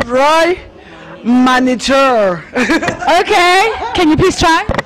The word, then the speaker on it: Roi Manitou: I want you guys to pronounce the name of the champagne. I'm going to start with you. It's Roy Manitou.